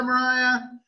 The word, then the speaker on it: Mariah: And the point is, bye, Mariah. I feel horrible because I always want to call her Myra. I don't know why. I think it's because it's spelled that way.